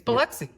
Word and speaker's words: Biloxi: It's Biloxi.